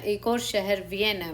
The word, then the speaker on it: Vienne: और इससे अब वियना जो ऑस्ट्रिया में है उससे कंफ्यूज मत होइए, वो एक अलग जगह है, ये वियन है। Pronounce generally the same way किया जाता है एज वियना।